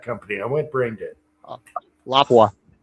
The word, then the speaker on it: Lapua: So, Laoua, well, no, Lapua.